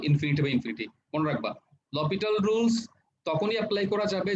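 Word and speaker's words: L'Hôpital: ওকে, এই যে আমি যেটা লপিটালস রুল বললাম, এটা উচ্চারণ কিন্তু লপিটালস হবে বা হপিটাল বলে আর কি, এল হপিটাল, এসটা উচ্চারণ হয় না আসলে, একসাথে বললে লপিটাল অথবা এল হপিটাল।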